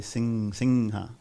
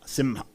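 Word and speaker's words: सिंह: Sometimes you find in North India and especially in the Bengal region, the Anuswara will be pronounced like That's why you hear people say Singha, right? Some people in South, sometimes you say Simha.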